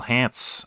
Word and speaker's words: Hants: going to be Royal Hants as our British. Hopefully I'm pronouncing that right. It's just H it's just pants but with an H.